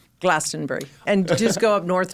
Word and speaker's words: Glastonbury: I say Glastonbury too. And you guys Edinburgh. Instead of Edinburgh, but how do you we're say splitting hairs here. Yeah. How do you say Glastonbury? How do you say it? I'd say Glastonbury.